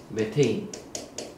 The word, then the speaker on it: 메테인: CH4는 뭐라고 읽느냐? 메테인. 라고 읽어요.